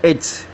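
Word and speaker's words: עץ: Es la H6086, se pronuncia etz, y significa al español árbol, por su firmeza, árbol.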